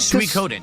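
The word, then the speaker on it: Suikoden: and welcome back to Su Coden that's how you pronounce it Su Coden I know for a fact that's how you pronounce it cuz I just heard it spoken it's Su Coden o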